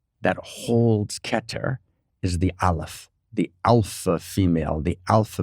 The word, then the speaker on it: Aleph: So the Aleph is the silent letter. Aleph is completely silent in the Hebrew alphabet.